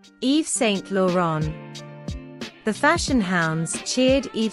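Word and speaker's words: Yves Saint Laurent: mosino focuses on the classics in her designs Eve St lauron Eve St lauron the fashion hounds cheered Eve St laon's final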